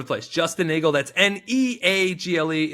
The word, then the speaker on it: Neagle: Justin Neagle, that's Neagle. It's spelled like beagle, but pronounced like bagel.